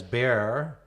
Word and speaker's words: Bexar: You pronounce manor as manor, manor as manor, Bexar as bear, and groon as green.